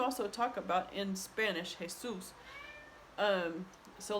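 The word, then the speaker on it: Jesús: talk about in Spanish Jesus. So like our neighbor Jesus came to see if we wanted any beans. So Jesus would be like that. But the accent is on the last syllable, so I would have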